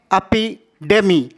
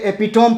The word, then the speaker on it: epitome: पढ़ते हैं AP Demi इसे पढ़ते हैं एडेमी लेकिन बहुत सारे लोग इसे एपीटम पढ़ते हैं एडेमी का मतलब होता